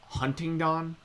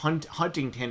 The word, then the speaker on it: Huntingdon: It's weird because, like, I live on a street called Huntingdon, but, like, Huntington is how, like, you would probably, most people would pronounce it, but it's spelled... Oh, Huntington instead of Huntington. It's Huntingdon, like D-O-N at the end.